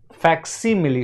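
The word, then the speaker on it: facsimile: ठीक है ना तो फैक्सी मिली होता है यह स्पेलिंग यह करेक्ट है एफ ए सी एस आई एम आई एल ई इसका उच्चारण करेंगे फैक्स मिली ठीक है ओके नेक्स्ट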